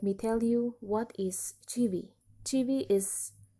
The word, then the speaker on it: Chivvy: It is pronounced as Chivvy.